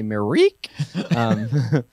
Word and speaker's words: Myrick: I say Myrick. He's never corrected me. So I don't know, but I hear Myrick a lot too. So maybe he'll let us know. Say it right. Yeah, it's actually Myrick.